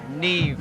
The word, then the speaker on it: Neve: Neve, N-E-V-E, Neve.